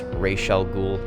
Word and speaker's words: Ra's al Ghul: Side note, it's Ra's al Ghul, not Raz, and it's Carmine Falcone, not Falcone.